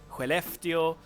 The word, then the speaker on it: Skellefteå: few cities Umeå Luleå Skellefteå and these are pronounced like this but I mean you have the SK in Skellefteå which also produce that sound very nice but that's not what